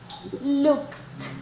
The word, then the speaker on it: looked: Looked, right? Recuerde la última pronunciación, ¿verdad? Like a T. Looked, right?